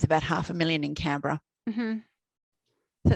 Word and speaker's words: Canberra: small town outside of cambrie yeah i'm saying the name wrong you're gonna that's okay it's canberra yeah and i live